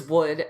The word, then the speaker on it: would: They are both pronounced wood. So forget about this L right here. The first spelling refers to the wood that we get from trees. And the second spelling is would, as in, would you